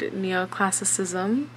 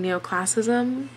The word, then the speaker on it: neoclassicism: known as neoclassism hi i realize that there's a whole other syllable in the word neoclassicism and i kept saying neoclassism so i'm just here